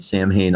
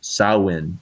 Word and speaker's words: Samhain: One time I met this dude, Cliff Burton, who was wearing one of my handmade Sam Hayne armbands. He raved about sawin, its proper Gaelic pronunciation, and wanted my autograph.